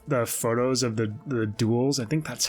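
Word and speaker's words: dhole: photos of the the duels i think that's how you pronounce it it's d h uh o l e i think you pronounce it duel if i'm wrong there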